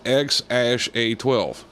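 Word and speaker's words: X Æ A-12: letter X and then the AE thing together is like pronounced Ash and then in a12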